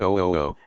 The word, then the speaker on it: OOO: The subject of the book now before you is object-oriented ontology, abbreviated OOO, and pronounced OO, a relatively new school of philosophy that takes Socrates at his word.